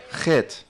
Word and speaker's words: Het: ¿Cómo se pronuncia? Het.